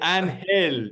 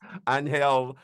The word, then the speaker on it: Angel: name of course uh the name is spelled Angel but that's not the way it's pronounced in uh his native